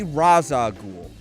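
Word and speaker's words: Ra's al Ghul: of of assassins okay it's supposed to be raza ghoul the animated series and the the and the the arkham the the arkham game series yeah took it from a different from a different um from a different pronunciation from a different uh from a different culture it's not actually the arabic pronunciation it is something else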